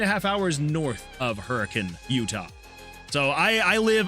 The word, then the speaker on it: Hurricane: Uh, well, I say hurricane because that's how you would assume that that would be pronounced, right? Hurricane, but it's not. If you live in Utah, it's actually pronounced hurricane. Hurricane Utah.